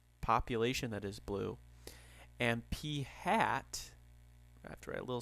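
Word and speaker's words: p̂: proportion is P hat and yes that is pronounced P hat which is x over N and X is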